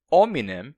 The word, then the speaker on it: hominem: de as pessoas falarem assim, mas para reclamar que tinha gente que odiava a pronúncia, por exemplo, da palavra hominem como ominem sem o h, mas essas mesmas pessoas